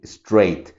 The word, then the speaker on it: straight: Entonces por eso no es straight, es straight. ¿Se fijan? Ni siquiera estoy diciendo es, no pronuncio esa E, solo straight.